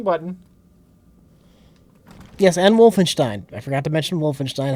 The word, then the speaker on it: Wolfenstein: somewhere which pronounces is Wolfenstein correctly how do people say it oh probably Steen no I think you say Wolfenstein yeah and a lot of people say wolfen Stein that's the right way but you say